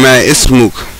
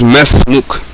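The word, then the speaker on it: ما اسمك: That's why if you see it written, it will look like you're saying ma ismuk, but actually it's mesmuk.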